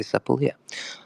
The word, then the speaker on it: Sepolia: Sepolia or Sepolia, or however you like to pronounce it. I say Sepolia.